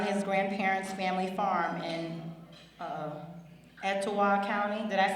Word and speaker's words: Etowah: Steve spent his formative years on his grandparents' family farm in Etowah County. Did I say it right, Mr. Gottney? Etowah.